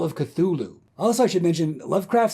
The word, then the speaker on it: Cthulhu: legendary the Call of Cthulhu also I should mention Lovecraft says the correct way to pronounce it is clue Lou which sounds like a